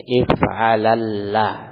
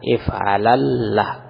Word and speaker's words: if'alalla: untuk fi'il rubai mazid bi harfain if'alallah, ya, lamnya ditasydid yang kedua. Jadi 3 lam kalau ditulis, kalau diucapkan.